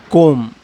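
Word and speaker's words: comb: कोम। कोम, COMP, कोम, कोम, कोम, कोम। ऐसे वर्डों में क्या है, बी साइलेंट था।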